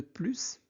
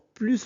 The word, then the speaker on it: plus: Ici plus veut dire davantage comme le sens est positif on prononce le s marque oui je travaille h efficacement qu'avant. Je travaille plus efficacement. Pourquoi S devient Z ?